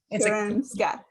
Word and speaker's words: Karolinska: Global Health at the, so is that going to be pronounced the same? Is it the Karolinska? Karolinska, yeah. I saw the K and then I was like, oh, it's probably Karolinska Institute in Sweden.